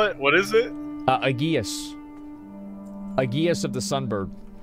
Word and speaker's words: aegis: what is it uh aguius aguius of the sun bird all right it's pronounced aegis no that's what that's